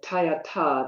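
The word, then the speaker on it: तद्यथा: And the Tayata, the TH, is more of a harder T.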